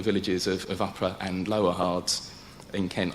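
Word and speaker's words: Hardres: of upper and lower hearts in kent i'm learning to pronounce them with an h um because the early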